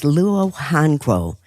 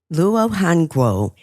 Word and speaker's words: luo hanguo: The next natural sweetener is luo hanguo. That's spelled Luo, new word HANGUO.